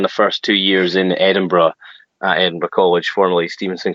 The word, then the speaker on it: Edinburgh: in Edinburgh and what is life like in Edinburgh Scotland first of all everybody pronounces it wrong right yeah you're pronouncing it